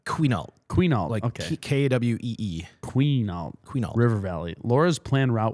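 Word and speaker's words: Quinault: Uh it's qual river valley.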